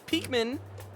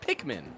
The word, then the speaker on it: Pikmin: See, Weedle says, Peekman, I hate the way you say it. It's Pikmin. That's how you say it.